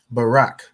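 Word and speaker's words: ברך: closer is it Barack Barack perfect so you have bar ra and car the bar is is pronounced individually the r and the car join to make rack so when you join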